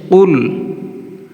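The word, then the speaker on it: قل: কফ লাম পেশ কুল, কুল।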